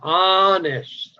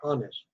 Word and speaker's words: honest: Mire, este es H, es silencio. You don't spell it. Es que se empieza honest, honest.